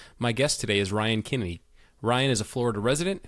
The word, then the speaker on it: Kinney: and I want to make sure that I pronounced it correctly for everyone to hear it was Ryan Kinney and I feel like as I was saying